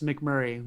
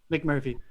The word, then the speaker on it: McMurphy: And I felt like I was McMurray, like watching the second thing. Look, to its credit, McMurphy.